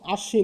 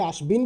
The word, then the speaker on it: আশ্বিন: এখানে আশ্বিন আমরা বলি আমরা একে আশবিন বলি আশবিন বলি না আমরা কি বলি